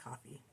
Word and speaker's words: Ko-fi: to explain coffee Kofi I've always heard it pronounced Kofi so I can't get that out of my head yeah but I do think it is pronounced coffee so we'll say whatever